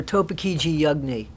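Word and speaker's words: Topeekeegee Yugnee: And it stood for Topekiji Yugni. So that's how that's pronounced.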